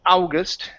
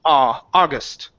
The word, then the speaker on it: August: The AU in English, okay, most of the time is not pronounced ow. Okay, so instead of saying ow, August, the word is August. August. Don't add the oo.